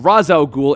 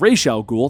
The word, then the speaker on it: Ra's al Ghul: may have noticed that i've been saying razael ghoul and rachel ghoul throughout the entire video the reason is really simple he is known by both names but the big question